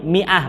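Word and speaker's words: مائة: Anti jangan rumah bingung bacanya Ma ah salah itu khusus untuk kata ini Miah bacanya mimnya di kasrah ya mimnya di kasrah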